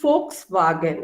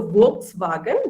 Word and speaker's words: Volkswagen: so when someone mentioned volkswagen okay so you pronounced it so correctly most of the times we pronounce it as uh v so volkswagen that's wrong it's volkswagen and along with that